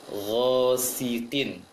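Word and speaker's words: غَاسِقٍ: Kemudian yang sering tertebalkan adalah ghasiqin. Seharusnya ghasiqin. Jelas baca si kasrohnya.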